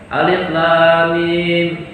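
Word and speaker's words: الم: Lam dengan mim panjangnya sama, jangan beda.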